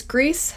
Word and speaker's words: Gris: some people say it's Greece some people say it's gree but it looks like Chris spelled g-r-i-s and this is one